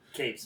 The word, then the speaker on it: Cates: Donnie Coates or Cates? How do you pronounce his last name? Cates.